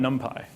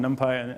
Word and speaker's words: NumPy: If you want to do fast numerics in Python, everything depends on NumPy. And yes, it's pronounced NumPy, not NumPy.